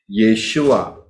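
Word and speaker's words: ישוע: itu bukan nama saudara cara pengucapan yang salah Sekali lagi saya katakan Saya pertegas di sini itu bukan nama ya kalau mau nama ya nulisnya harus benar yaitu Yod syin wau Ayin yesua sudah bisa lihat di sini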